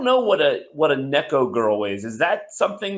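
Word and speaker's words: 猫: that is is it Nico cat in Japanese so it like cat girl I think it's it's pronounced Neco okay cool but yeah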